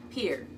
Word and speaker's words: Pierre: or is it Pierre if you ask the people in South Dakota its Pierre the town in Virginia and the town in Nebraska is spelled lor fol k but neither of them say Norfolk one says Norfolk that's Virginia and one says North Fork that's Nebraska make sure